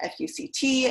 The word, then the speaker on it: FUCT: they were able to argue that we are pronounced fuct and this is our first amendment right you